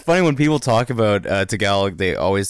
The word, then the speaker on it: Tagalog: It's funny when people talk about Tagalog, they always say, you speak Tagalog? I'm like, I've heard that a lot. Tagalog. Like, you got it like a horse, like, going through water.